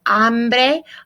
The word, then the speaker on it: hambre: Tengo hambre. Hambre, silent H, always in Spanish.